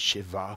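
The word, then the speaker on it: שבע: is the hebrew word shava now shava means to be complete because he's given a promise he's sworn to abraham isaac and jacob this promise and shava sometimes they pronounce it as shiva and in hebrew is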